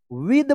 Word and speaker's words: with: Right, WITH क्या पढ़ेंगे इसको, फटाफट पढ़िए। विद पढ़ेंगे, विद, विथ मत पढ़िएगा, विद अ फाइन पेन।